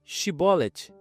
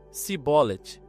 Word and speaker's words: Shibolet: Pois bem, diziam eles então, dize Shibolet. E ele dizia: Sibolet. Não podendo pronunciar corretamente, prendiam-no logo e o degolavam junto aos vales do Jordão.